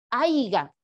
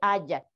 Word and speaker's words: haya: dialecto estándar por ejemplo no se dice haiga se dice haya esto también es meta